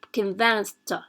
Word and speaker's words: convinced: Okay, so here see we have convinced, it's pronounced t, the t. Okay, convinced, right?